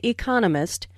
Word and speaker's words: economist: smith is an economist notice the stress on economist this content word has new information so it is emphasized there are four syllables in economist with the stress on the second syllable economist he just finished writing